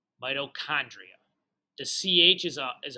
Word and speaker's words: mitochondria: okay so that's pronounced midochondria mitochondria the CH is a is a hard CH a not a cha like it's like the word chaos not like the word pitch or I don't know